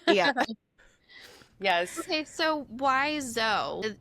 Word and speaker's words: Dzo: So, why Zo? It's spelled DZ DO.